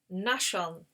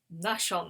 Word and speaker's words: Nahshon: So the first captain in the tribe of Judah is Nahshon. Nahshon, that's how I'm saying it, Captain Nahshon.